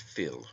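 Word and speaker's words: fuil: from the irish word phil f-u-i-l pronounced phil meaning blood it also signifies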